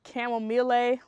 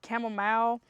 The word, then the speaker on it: chamomile: If you're not familiar with chamomile, some people pronounce it chamomile or chamomile. Depends on where you're from, but this is a well-known gentle stress reliever and sleep aid.